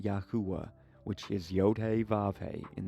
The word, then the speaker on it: Yahuah: And it just, the transliteration or the pronunciation is Yahuah.